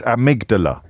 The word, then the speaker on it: amygdala: It's amygdala.